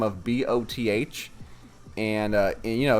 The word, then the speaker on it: Both: I've got the last name of B O T H and uh you know if you just say it in a sentence it's it's pronounced both but you know my